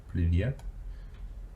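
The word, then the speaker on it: привет: order to learn because if you can say yet with sort of that yes found on the end privyet it's it's it's nice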